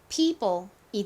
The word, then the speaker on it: people: 쓰이는 단어가 굉장히 적습니다 여기서 이오는이 이 소리가납니다 이오의 소리를 따로이라고 외우기보다는 그냥이 단어를 기억을 해 주시면 돼요 자 peo p 발음이 됐고요 그리고 p 리 합쳐지면 발음이 people이 되죠 자 따라해 보세요